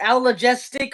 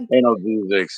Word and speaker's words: analgesics: An analgesic or allergistic or whatever the fuck how you pronounce that. Analgesics, yeah, analgesics.